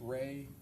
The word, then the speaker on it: Rey: There's also a visual spatial ability test and I'm going to have you explain or pronounce that for us. The REY test, Ray, the Ray Astrich complex figure test.